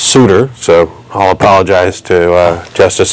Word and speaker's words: Souter: I've also been told that the justice's name is pronounced Souter, so I'll apologize to Justice Souter for mispronouncing his name.